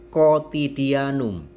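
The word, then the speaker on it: cotidianum: yang perlu kita perhatikan kotiti Anum C diikuti Om maka dibaca K dan di belakangnya hoodie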